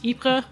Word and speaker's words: Ypres: So it's Ypres in French, Ypres, or Yper, Ieper, if you're Flemish. And the British just call it Wiper.